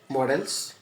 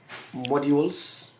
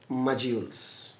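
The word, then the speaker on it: modules: এম ও ডি ইউ এল ই এস এটাকে বাংলাদেশিরা বলে মডেলস বা মডলস কিন্তু প্রকৃতপক্ষে এ উচ্চারণটা এরকম এটা দুই রকম উচ্চারণ হয় এক নাম্বার হল ব্রিটিশরা বলে মানে ইউকে তারা বলে মডিউলস আর আমেরিকান তারা বলে মাঝিস প্রথম কথা বলল ইউকে বলে মডিউলস আর আমেরিকানরা বলে মাজিউলস আমি দুইটার আইপিএ সহ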